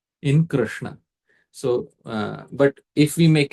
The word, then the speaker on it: Krishna: Krr is not so much pleasurable to the mouth. Kre is more pleasurable. Muksuk, Krishna. But accurate pronunciation is Krishna.